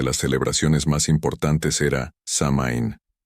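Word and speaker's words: Samhain: celebraciones más importantes era samain pronunciado sou in que tenía lugar la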